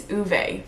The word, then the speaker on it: Ove: perfect you look kind of crooked but I don't know anyways I'm currently listening to a man called apparently it's uve not o which I don't know